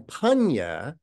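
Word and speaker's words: paññā: And panya is the Pali pronunciation of pranya, the Sanskrit word pranya for wisdom.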